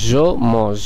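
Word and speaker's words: je mange: জমজ এখানে নিশ্চয়ই আপনারা খেয়াল করলেন যে শেষের টা সাইলেন্ট থেকে গেল বরং এই যে ফরাসি যে পর্যন্ত উচ্চারিত হলো যেটি দাঁড়ালো জমজ যার অর্থ আমি খাই আপনারা নিশ্চয়ই বাংলাতেও খেয়াল করছেন যে এটির উচ্চারণ হবে জমজ চলুন এবার দেখা যাক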